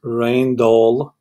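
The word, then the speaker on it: Rijndael: More precisely, the National Institute of Standards and Technology selected the algorithm Regendale, pronounced Reindol. This is pronounced Reindol. I don't know how, but it says here Reindol.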